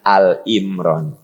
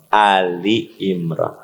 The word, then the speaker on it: Ali Imran: Awas, cara bacanya bukan Al Imran, Ali Imran. Karena Anda mah suka terbawa dengan Al-Baqarah. Al-Baqarah, Al Imran, Al-Kahfi. Nah, pas Al Imran salah, Ali.